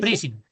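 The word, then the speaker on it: pricing: Bueno, esto, ¿cómo se pronuncia? Pring, ¿cómo se dice? Prising. Prising.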